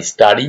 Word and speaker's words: Stary: Polish ভাষায় STARY, স্টারি মানে হচ্ছে ওল্ড, মানে ওল্ড রাইডার না বলে এটাকে স্টারি রাইডার। অনেকে স্টারি উচ্চারণটা নানা রকম অন্যরকম করো, তাদের জন্য এটা বললাম।